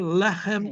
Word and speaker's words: lechem: And the last one on the bottom there, lechem means bread. Lechem. Remember, it's the segulet. It has 2 segels. That means the accent is going to be the next to last syllable.